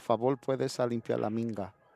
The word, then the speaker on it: minga: Ah, por favor, puedes a limpiar la minga. La minga is m i n g a is is how you pronounce cue ball, minga.